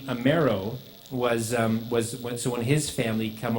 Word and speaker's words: Amero: So and it was spelled, Amero. And so they get off the boat and they said, "What's your name?" They said Amero. So they were writing it down phonetically, Amero.